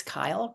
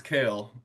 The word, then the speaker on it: Kale: Kale, or maybe it's Kyle, and then Patricia, you'll be up next. You were right the first time. It's Kale, pronounced like the leafy green.